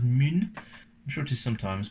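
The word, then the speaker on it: Mün: Is it mun with an umlaut? So it probably still be pronounced mun.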